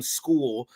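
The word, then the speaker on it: Scull: Canelo Alvarez defeated William School, and I'm like, it was an awful fight. The dude's last name is spelt like skull, but it's pronounced school.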